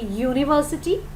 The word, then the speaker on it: university: Like you can see, when we say university, it sounds like you.